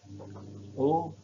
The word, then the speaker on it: au: Elle habite en France ou au Japon, atau di Jepang. Ini AU bacanya O, ya, au Japon.